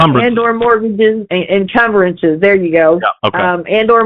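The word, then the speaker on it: encumbrances: Incuberances. And or mortgages incumbrances.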